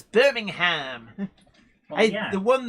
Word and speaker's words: Birmingham: Sarah Davis says how Americans pronounce Birmingham is hilarious. No, it's Birmingham.